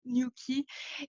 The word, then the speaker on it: Nuki: de Noki à Nuki, à entendre Nuki et c'est comme ça qu'est né le nom Nuki de l'entreprise, que nous on prononce Nuki en France. Donc voilà, donc ça c'est l'entreprise aujourd'hui.